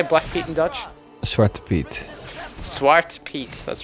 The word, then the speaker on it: Zwarte Piet: Zwarte Piet.